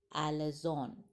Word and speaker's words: alazon: his wit repeatedly triumphs over the boastful character alazon a-l-a z-o-n and this word irony came into